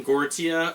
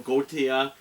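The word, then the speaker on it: Gotye: I pronounce his name Gautier or Gautier.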